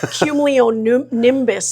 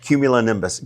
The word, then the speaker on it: cumulonimbus: I think I only knew cumulo nimbus before. Yeah, yeah, yeah. Very good cumulo How do you say it? Cumulonimbus.